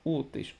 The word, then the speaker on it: úteis: o então é acentuada úteis temos duas sílabas úteis chama úteis úteis a sílaba que se prolonga é o u se é o u então é a penúltima sílaba paroxítona terminada em de tongo úteis se termina em